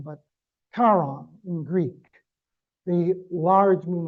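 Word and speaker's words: Charon: It's pronounced not Chaon, but Kon in Greek, the large moon of Pluto.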